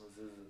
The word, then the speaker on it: Mezuzah: Mezuzah. So yeah, no, that's not. It's a great word. Mezuzah. It's spelled M-E-Z-U-Z-A-H.